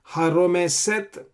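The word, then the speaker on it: הָרֹמֶשֶׂת: This is shin with a dot on the left hand side, so you pronounce as sin. Haromeset asher shartzu, shin with a dot on the right hand side.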